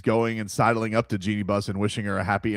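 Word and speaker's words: Jeanie Buss: We have Genie Bus.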